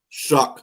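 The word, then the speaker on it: Shough: His name is pronounced shuck. Many I don't even know how the hell you pronounce that name shuck when it doesn't even sound like that. It looks like show to me. Mhm. It spelled like dough.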